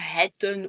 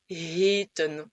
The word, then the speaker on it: heten: Donc tu ne vas pas dire hetten ou hutten ou que sais-je, tu vas bien dire heten. Le E en format long se prononce E comme le E aigu en français.